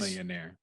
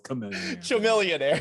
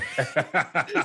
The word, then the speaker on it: Chamillionaire: Millionaire. Did I say it wrong? He said Chamillionaire. It's Chamillionaire. Chamillionaire.